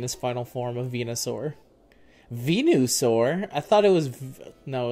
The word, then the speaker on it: Venusaur: it was no it's Venusaur okay I don't know why the spelling of it there made it look like venu well because it is I mean it's not pronounced venu but it's spelled venu really v n u